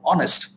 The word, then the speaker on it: honest: such as for example honest when you say honest you're making a vowel sound because you're skipping h you're skipping the h you're keeping the h silent and you're saying an